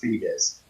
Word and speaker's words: Foetus: How's that pronounced? Foetus, Foetus. Okay, so that's still pronounced fetus.